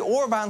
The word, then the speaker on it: Orbán: and back Sounds like a BLØF song (Dutch rockband) The only use of that Orbán Spoorbaan ("railroad") is Is that it helps you remember how to pronounce his name It's a helpful reminder,